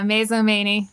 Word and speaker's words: Mazomanie: Is that how you pronounce it? Yeah, Mazomanie.